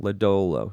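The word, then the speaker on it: Lodolo: ladolo obviously has the upside for am I pronouncing his name ladolo yeah ladolo um has the upside for strikeout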